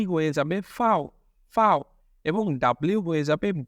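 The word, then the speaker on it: Vau: টিটাকে আমরা ডয়েচে বলবো টে টে, ট্রিক ট্রিক টে, ইউটা হয়ে যাবে উ, এবং ভি হয়ে যাবে ফাও ফাও, এবং ডাব্লিউ হয়ে যাবে ভে, উ ফাও ভে ইক্স।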